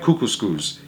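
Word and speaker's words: Kookooskoos: better the camp anyways welcome to camp cuckoo schools it rhymes with moose that's another good thing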